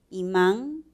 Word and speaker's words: imán: Imán tiene dos sílabas. La última es tónica, termina en N y por eso también la tildamos.